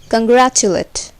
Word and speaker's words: congratulate: So also compare late, which is long, and congratulate, where late sounds like let.